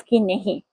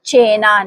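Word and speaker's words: cena: काफ की नहीं।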